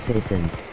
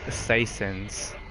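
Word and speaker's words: Soissons: The map is pronounced citizens. What? That should have killed him. It's pronounced Saisons. PJ, just because you took French class doesn't mean you know everything. I think it's like Sanson.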